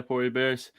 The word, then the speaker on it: Pori Bears: Was it the Pori Bears? Is that how you pronounce it? Exactly, yeah, Pori Bears.